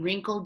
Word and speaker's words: wrinkled: te right fur in wrinkled WR so the W is silent okay and then for